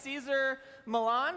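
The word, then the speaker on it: Cesar Millan: now you know rights teaser Milan right that's how you say his name he is you would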